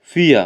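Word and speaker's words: vier: দ্রাই মানে হচ্ছে থ্রি ফিয়া এখানে এই ভিটাকে জার্মান ভাষায় ফা উচ্চারণ করা হয় ফাও মানে এফ এর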